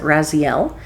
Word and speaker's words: Raziel: I pronounce it Raziel.